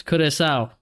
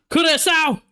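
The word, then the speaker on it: Curaçao: They have escaped with their lives, Curacao. Apparently, that's how you say it.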